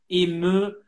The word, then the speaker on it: ému: Ému, we don't understand very well, but I know it's difficult because of these high notes. Ému, but you can open more, so it's difficult to pronounce well here.